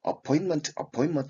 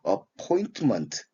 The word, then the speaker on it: appointment: 여기서 T 발음을 생략해서 무금화시켜서 appointment 이렇게 발음하기도 합니다. 여러분들 appointment 이렇게 돼야 될 텐데 appointment라고 발음할 수도 있다는 거.